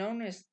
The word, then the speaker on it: honest: indeterminado y decimos an honest person, an honest person, una persona honesta. ¿De acuerdo? Tenemos que cuando empiece la palabra por la consonante H muda, el artículo va a tomar la N.